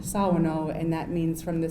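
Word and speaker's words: Shawano: then we have the city of shao which we pronounce Sao and that means from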